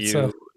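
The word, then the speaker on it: Dybantsa: And The kid AJ, and I can't pronounce his last name very well, from BYU. Bansa.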